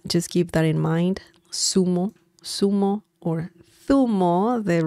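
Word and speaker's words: zumo: America and uh just give that in mind Sumo Sumo or tho the right pronunciation with this Spaniard accent um but um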